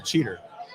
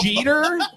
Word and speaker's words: Jeter: How does it feel to work with the cheater? First of all, It's good. good. It's good. Yeah, you gotta admit it. It's pronounced Jeter, but that's fine.